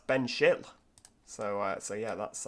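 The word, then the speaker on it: Benchill: continuing up we have ben shill or ben schill yeah it's not bench hill that's ben schill so uh so yeah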